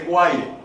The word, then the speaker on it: Guaire: Hasta el sol de hoy ya no es Gaire, sino guaire. Y al que tú le digas gaire te va a tratar de corregir. No, no se dice Gaire, se dice guaire.